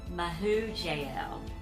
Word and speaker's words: Mehujael: Mehujael.